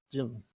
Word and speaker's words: Dylan: It's Dylan like Bob Dylan.